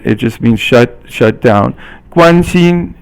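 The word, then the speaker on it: 关心: 关心 is all first tone, and it means to be concerned about someone.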